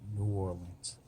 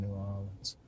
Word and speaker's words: New Orleans: Oh, let me pronounce this so everybody else understand. New Orleans. I was pronouncing like they would in New Orleans.